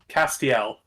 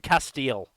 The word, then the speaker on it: Castiel: guy whose name I apparently can't pronounce Castiel it's not that hard yeah I keep thinking Castile yeah separate the that last bit Yeah separate that last bit out Joey wheeler AKA Brooklyn